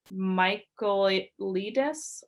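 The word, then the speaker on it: Michaelides: is the maidens by alex michael ledes i believe is how you pronounce his last name most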